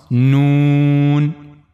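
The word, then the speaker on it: نون: This is the tip of the tongue and it will go connect to the gum of the two top front teeth from the internal side.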